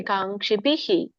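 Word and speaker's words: ಕಾಂಕ್ಷಿಭಿಃ: ಬರುತ್ತೆ ಪ್ರಭುಜಿ ಮೋಕ್ಷಕಹಿಷ್ಣ ಮತ್ತೆ ಬಿಹಿಹಿ ಅಂತ ಹೇಳಬೇಡಿ ಕಾಂಕ್ಷಿಹಿ ಕಾಂಕ್ಷಿ ಬಿಹಿ ಅಷ್ಟೇ ಕ್ಷಬಿಹಿ ಓಕೆ ಹರೇ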